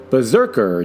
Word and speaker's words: BRZRKR: don't really give the immortal's name, but and Berserker, by the way, it's spelled without any of the E's.